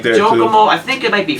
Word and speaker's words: Jockomo: The web, I don't remember what the web page is, but the company is called Jokomo. It's spelled JOCKOMO.